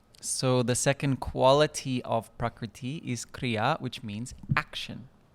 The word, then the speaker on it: Prakriti: Prakriti. And Prakriti can be broken up into its syllables. Pra, Kri, Iti.